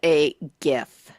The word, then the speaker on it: GIF: I call it a GIF. A GIF. With a soft G.